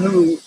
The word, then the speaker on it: huul: sound is cool because the spell that's something like h u u l so in the chinese five elements scheme the sound who is associated with the